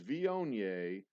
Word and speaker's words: Viognier: Is Viognier a red or white wine? And yes, I'm pronouncing that correctly.